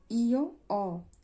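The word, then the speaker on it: ho: আপনারা চাইলে দেখে নিতে পারেন তাহলে শুরু করি অ এখানে অ এইচ এর কোন উচ্চারণ নেই।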